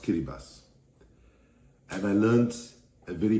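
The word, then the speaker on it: Kiribati: in Vanuatu Fiji and in kirati pronounced kiribas and I learned a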